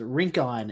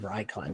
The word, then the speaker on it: Rincon: uh and I apologize Rincon is um the way you pronounce that town instead of rycline so Recon uh that